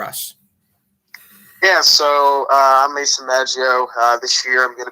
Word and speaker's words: Maggio: Is it Maggio or Maggio, actually? It's Maggio. Maggio.